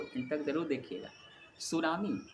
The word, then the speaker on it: tsunami: सुनामी जिसे English में टी से इसकी शुरुआत होती है। सुनामी लेकिन स्टार्ट टी से होती है जो साइलेंट रहते हैं टी और यह एक जापानी शब्द है।